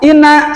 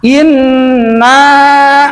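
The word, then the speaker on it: إِنَّا: Nah digitukan dulu, jangan inna salah, inna. Nah gitu bacanya tuh. Ya, jangan inna salah. Kalau dibaca inna berarti menghilangkan tasdid ataupun musadah sabdu di atas nun.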